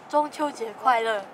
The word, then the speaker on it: 中秋节快乐: 中秋节快乐. Woo! 中秋节快乐.